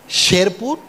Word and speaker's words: শেরপুর: এখানেও এ সাউন্ডই হবে শেরপুর, হেমায়েতপুর এবং কেরানীগঞ্জ।